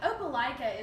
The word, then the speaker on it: Opelika: Now actually Opelika is somewhere, that's how you pronounce it, right? Right. Opelika.